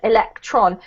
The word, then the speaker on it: electron: word about pronunciation actually with those particular words Neutron proton electron we actually emphasize the on at the end of the word a little bit more yeah Neutron at